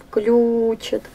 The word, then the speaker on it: включит: Включит. Ударение на первый слог.